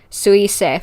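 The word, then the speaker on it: 彗星: And it's pronounced like this. I've got Google Translate up. Suisei, that's how you pronounce it.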